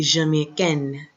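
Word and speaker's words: jamaïcaine: When the E is added, the N is pronounced more, I should say.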